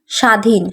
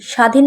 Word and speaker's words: স্বাধীন: যেমন স্বাধীন, স্বাধীন বানানে সা উচ্চারণ হচ্ছে, কিন্তু ব ফলা আমাদের দিতে হবে। বটা এখানে সাইলেন্ট থাকবে, আমরা ব উচ্চারণ করব না।